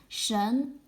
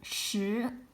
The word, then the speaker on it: 什: It can be pronounced as shén, means what, or shi, assorted, according to different context.